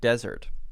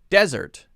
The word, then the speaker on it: desert: pronunciation of dessert and desert okay so this one is an interesting one desert and dessert desert and dessert well i think you can hear first there's a stress difference if i say usually